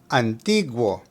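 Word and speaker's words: antiguo: the Old Testament now the word Antigo needs to have the emphasis of pronunciation on the I which has an English double e sound Antiga Antigo now let's say it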